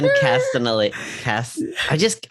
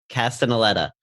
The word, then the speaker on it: Castellaneta: Dan Castanelli. You know what it is? I spelled it wrong in my document. It's too many syllables. It would fuck anybody up. Castellaneta.